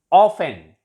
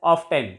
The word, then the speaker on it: often: Often. It is not pronounced as often. It is often. All the words ending in TEN. T is always silent.